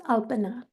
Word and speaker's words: Alpana: Is it Alpana? Is that how you say it, Alpana? Oh, thank you. It's Alpana. Alpana, thank you. I had my emphasis incorrect.